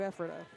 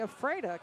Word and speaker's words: Ephrata: County, I went to Ephrata. Or if some folks don't know how to say it, they say Ephrata, because you're just afraid of what happens next there.